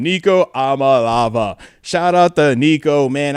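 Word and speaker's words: Iamaleava: Niko Amalava. That's how you say his name. Nico Amalava.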